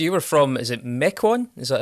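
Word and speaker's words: Mequon: Uh, so you were from is it Mechcoin? Is that how it's pronounced? Mecoan.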